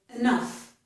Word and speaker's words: enough: So, I wanted to show you that the ending of enough does sound like the ending of stuff, okay?